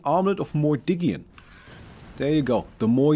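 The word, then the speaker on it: Mordiggian: It is pronounced Mordigian.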